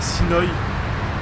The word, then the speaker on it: Sinoy: Ouais, Donc c'est Sinoy, comme ça se prononce avec un Y à la fin, ok.